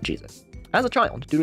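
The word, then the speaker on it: Jesús: So his middle name was probably pronounced Jesus, although once he entered the US civil service, he pronounced it Jesus.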